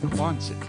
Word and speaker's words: Quonset: Hey, yeah, Angela, it's Quonset. Quonset was the... Quonset? Quonset, how to pronounce it.